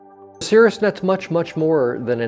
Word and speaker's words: Caerusnet: can result in warmed up referrals so it's pronounced Cirrus net Cirrus was the Greek god of opportunity and